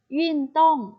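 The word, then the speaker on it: 运动: ลา นะ คะ อ่ะ คำ ว่า กีฬา จะ ออก เสียง ว่า วิ่ง ต้อง ยิ่ง ต้อง แต่ ว่า กีฬา ค่ะ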